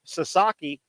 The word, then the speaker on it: Sasaki: new guy from J uh Japan if I'm pronouncing his name right Sasaki is that right that's uh that's correct yeah